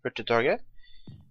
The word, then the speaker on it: Hurtigtoget: from norway and my name is which is pronounced pretty target is a norwegian word and then the obvious